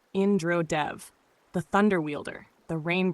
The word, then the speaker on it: Indra Dev: Tonight we speak of Indra Dev, pronounced Indra Dev, the thunder wielder, the rain bringer, the king